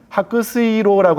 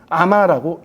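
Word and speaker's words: 白水郎: 그러니까 해민, 해녀라고 쓰고 일본어로는 아마라고 읽는데, 바로 이 백수랑이라고 하는 말도 백수랑이라고 쓰지만 하크스이로라고 하는 도금으로 읽지 않고 아마라고 읽는 것이죠.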